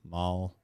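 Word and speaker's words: Moll: say it small mole Mall it's pronounced m-o-l-e but it's spelled m-o-l-l so so anyway I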